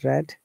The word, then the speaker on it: read: become became become so now read red red see though they are spells similar way but in past tense it's red and past participle it is red as well then cut